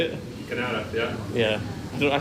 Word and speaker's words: Kanata: Kanata, yeah.